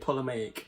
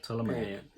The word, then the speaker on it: Ptolemaic: opening Old Kingdom, New Kingdom, and am I pronouncing that? Ptolemaic period. Ptolemaic. Ptolemaic.